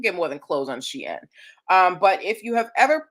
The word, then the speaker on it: Shein: How many of y'all have ever, I know you've heard of Shein, or Sheen as I've heard it pronounced, but how many of you have ever ordered anything from Shein?